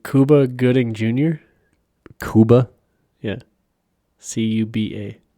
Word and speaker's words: Cuba: gooding jr cuba yeah c-u-b-a how do you pronounce that cuba yes cuba gooding jr yeah he's